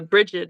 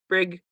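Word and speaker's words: Brigid: Um one of the major ones that I've been working with is uh Bridg or Brig I think is one of the other ways to pronounce her name.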